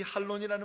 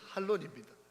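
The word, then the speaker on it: ἅλων: 행사가 아닙니다.이 타장 마당이라고 하는이 할론이라는 말이 타장 마당이라고 하는 단어를 신약 성경 원어 헬라어로 부르는 발음이 할론입니다.이 이 할론이라고 하는 타장마당이라고 하는 감사 축제를 우리 주님이이 땅에 오셔서 먼저 행하셨습니다.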